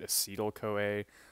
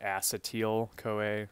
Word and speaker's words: acetyl-CoA: and I should mention I pronounce it acetyl-CoA. I've heard some people call it acetyl-CoA. So, whatever your preference is there, I call it acetyl-CoA. It's just easier for me.